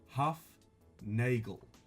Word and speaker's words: Hufnagel: his last name I wrote it down as it sounds because it doesn't sound how it's spelt it's not phonetic I'm like it's huff Nagel that's how I got it from watching an interview with him and that's how he said his name so I'm just I'm